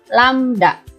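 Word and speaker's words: lambda: adalah landak ini kayak huruf y terbalik dibacanya adalah lamda ya atau panjang gelombang ada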